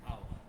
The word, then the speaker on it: hour: Like an hour. For example, use an hour, an honor. Here H is silent.